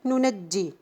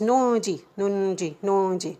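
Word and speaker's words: ننجي: The word nunajji. Here, this noon also is not found, it's not written, but we already pronounce it. Sorry, it is nunji, yeah, nunji. This word we are here pronouncing 2 noon, but actually it is not written in the Mus'haf.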